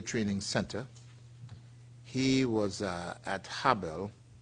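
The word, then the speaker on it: Harbel: He was at Habel, Spell that for us.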